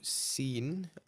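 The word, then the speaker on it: سين: So seen, similar to the letter S in English.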